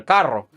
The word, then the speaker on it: carro: El carro. So, and just remember, you do want to roll your R there.